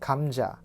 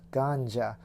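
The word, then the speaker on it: 감자: right seafood check next this in Korean is pronounced Kang JA not ganja around the medium-sized potato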